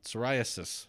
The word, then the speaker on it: psoriasis: noticeable because my haircut psoriasis spelt with a pee like pterodactyl but that psoriasis has been